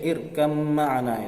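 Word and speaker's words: ٱرْكَب مَّعَنَا: Seperti dalam Al-Qur'an Nabi Nuh berkata kepada anaknya, di dalam Al-Qur'an tulisannya irkab ma'ana, naiklah bersama kami, ya. Tapi bacanya irkam ma'ana itu, ya, kalau di Al-Qur'an.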